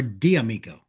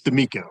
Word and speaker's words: Domico: Is it Domico or Diamico? It's Domico.